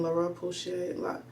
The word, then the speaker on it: La Roche-Posay: I have Paula's Choice on my list, and La Roche-Posay, that's how you say it.